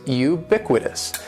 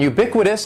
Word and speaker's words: ubiquitous: used so let's begin the first word is ubiquitous and ubiquitous has four syllables that first syllable is is just like